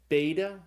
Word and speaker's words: beta: It's called beta like in the word Bible.